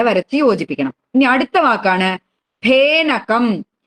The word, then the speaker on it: ഫേനകം: ഇനി അടുത്ത വാക്കാണ് ഫേനകം. അതിനെ ഫ എന്ന് പറയരുത്. അപ്പൊ നമ്മൾ ഇംഗ്ലീഷിലെ എഫ് എന്നുള്ള അക്ഷരം ഉള്ളതുകൊണ്ട് കുട്ടികളൊക്കെ ആ അക്ഷരം കാണുമ്പോൾ ഫേ എന്നാ പറയാം. അത് പറയരുത്. ആ അക്ഷരം ഉച്ചരിക്കേണ്ടത് ഫ എന്നാണ്. പ കഴിഞ്ഞ അക്ഷരം ഫ.